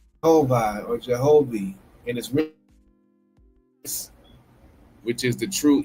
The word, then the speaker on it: Jehovih: said e o or e which is now pronounced or Jehovi and which is the true equal length cross and with the leaf of life in the midst.